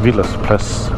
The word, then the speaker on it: Wilders Plads: There's one called Wilders Plads, pronounced Wilders Plads in Danish.